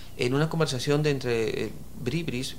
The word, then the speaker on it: bribri: una conversación de entre bribris porque se pronuncia bribri correcto no es bri bri bri bri bri bri